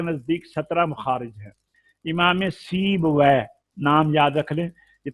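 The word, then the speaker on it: سیبویہ: اللہ علیہ کے نزدیک 17 مخارج ہیں۔ امام سیب وے، نام یاد رکھ لیں، یہ تلفظ نہ غلط کریں، یہ ہمارے لیے یہ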